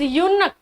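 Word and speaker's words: eunuch: इट इज यूनक, किन्नर, हिजड़े को कहते हैं यूनक। क्या प्रोनाउंसिएशन है, यू, और यू है तो क्या आएगा बेटा, ए आएगा। ठीक है, यूनक बोलते हैं इसको, तो क्या आ गया, ए आ गया।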